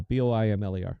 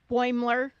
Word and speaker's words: Boimler: Boimler effect. How do you say that, Bell? B O I M L E R. What is it? Boimler.